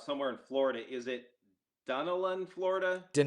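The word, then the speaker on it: Dunedin: Is it Dunelan, Florida? Danella. Danella. May pronounced that wrong.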